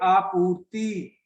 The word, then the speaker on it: आपूर्ति: में हम कैसे बोलेंगे हिंदी में इसका उच्चारण करेंगे आपूर्ति कि आपूर्ति यानी कि